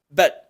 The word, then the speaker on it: but: But. La T por ir al final de sílaba se pronuncia no aspirada, solo hacemos la oclusión, but.